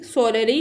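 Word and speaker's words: solely: पर थक ही क्यों ना चुके हो relying सोलली ऑन the determination to carry on इसको सोली पढ़ेंगे। एक एल इसका साइलेंट है।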